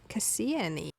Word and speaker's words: Kassia: uh, you know, big big crowd that Cassian is spelled K A S I A. Just wanted to to clarify that for y'all who saw maybe see the title and look at it and go, that's not Cassian E.